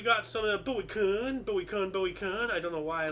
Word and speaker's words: Kuhn: Moving on up, we got some of the Bowie Kuhn. I don't know why I love saying that name, but it's actually pronounced Kuhn.